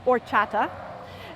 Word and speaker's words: horchata: or mexican restaurants it's spelled horchata but it's pronounced horchata and it's a delicious beverage made from this